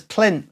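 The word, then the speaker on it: Pelynt: you go Georgia and Tom set says plinth which is just outside of loop pollen is this little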